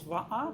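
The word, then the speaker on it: waʻa: Or the word for canoe is VA, but it's spelled W A.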